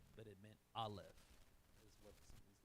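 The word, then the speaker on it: אָלֶף: So starting the very top right, that's pronounced Aleph. Aleph is how that's pronounced. No sound. It makes no sound.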